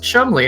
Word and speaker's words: Cholmondeley: so I was like that's how you pronounce that it's pronounced Chumlee and he's like well